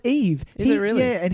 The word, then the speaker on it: EVE: And I kept saying, I've called it Eva. No, it's Eve. Is it really? Yeah, and he pronounces it wrong.